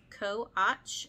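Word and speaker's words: Co. Aytch: Co-Och. It's spelled Co.Aytch.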